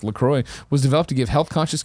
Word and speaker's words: LaCroix: Lacroix it's hibiscus Lacroix sparkling water pronounced Lacroix was developed to give